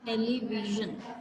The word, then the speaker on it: television: टेलीविजन. विजन नहीं बोलना इसे या विजन नहीं बोलना, इट्स टेलीविजन. जब आप विजन बोलोगे तो आपको वाइब्रेशन फील होगी.